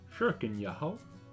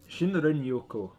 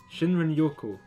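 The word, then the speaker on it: 森林浴: And I didn't exactly manage to pronounce that right last time. Shuriken Yaho? Yo. Shinrin Yoko. I think I've got it right that time. Shinrin Yoko.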